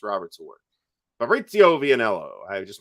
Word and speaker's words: Fabrizio: Fabrizio Vianello. I just mispronounced your name. I realize that, but that's okay. No, you didn't. You said it right. No, it's Fabrizio.